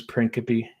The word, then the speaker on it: Principe: His name's Lawrence Principe, and or Princip, depending on how you pronounce it.